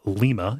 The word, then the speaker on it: Lima: have a town called Lima it's about L but we say it like lima like lima beans we have a town